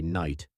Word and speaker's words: night: Today we say night. But centuries ago, most of those letters were actually pronounced.